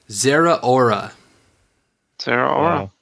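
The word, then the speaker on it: Zeraora: much come back okay so according to the Wikipedia of Pokemon name pronunciations it is Zehra aura Sara I really don't like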